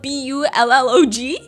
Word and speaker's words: Bullog: It's spelled b u l l o g.